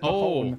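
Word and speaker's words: mo thóin: I don't know how to pronounce it. Mahon? Oh, is it Mahon?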